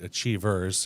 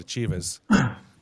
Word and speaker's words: Achievers: Well, I can tell the audience, I know you're not from Boston originally because you pronounce it Achievers, and of course we pronounce it Achievas.